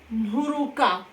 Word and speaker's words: Nturuka: And also, you don't pronounce the T. Instead of T, when there is N before, you pronounce as if there is H sound. So it is Nhu, Nhu, Nhuruka, Nhuruka.